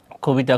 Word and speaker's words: কবিতা: কি রস্যই বা দীর্ঘই থাকে তাহলে অ এর উচ্চারণ হবে কি ও। যেমন নদী, নদী, কবিতা, কবিতা।